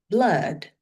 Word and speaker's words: blood: Pada kata blood, darah, ya, ada OO juga, tapi bacanya A, blood.